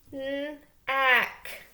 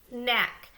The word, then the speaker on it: knack: Knack. Knack.